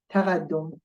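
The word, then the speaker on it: تقدّم: In fact, what we do here, we are pronouncing twice D, twice L, and twice S. But we write just one of them.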